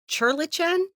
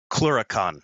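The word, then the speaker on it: clurichaun: So far, we have a Grump Troll, I always mispronounce it. Is it Churlichan? Cluricon. Cluricon, thank you.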